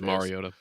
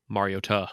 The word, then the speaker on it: Mariota: He was a Mariota guy, even though he likes to say it's Mariota, but we all know which one it is. Mariota. That is how you pronounce it. Just saying. Mariota.